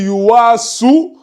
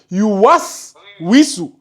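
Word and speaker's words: يُوَسْوِسُ: Ça, c'est un soukoun qui est là. Yuwas, wisu. Est-ce que tu vois? Si tu me dis yuwasu, wisu, c'est faux. Ce n'est pas ce qui est écrit là. C'est yuwas. Allazi yuwas, wisu. Yuwas, wisu. Tu ne dois pas allonger le wa là.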